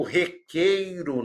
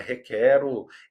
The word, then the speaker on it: requeiro: Eu requeiro, não é requero.